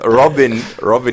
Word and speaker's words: Robin: Robin with a... The Y is silent, guys.